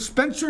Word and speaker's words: Spencer: is it Spencer? Is that how you pronounce it? Spencer, yes.